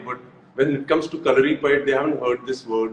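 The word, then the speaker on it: Kalaripayattu: so, calorie pad, Hrithik, I'm so proud of the fact that you said the name correctly because in India, I Thank don't you. see many people saying it right.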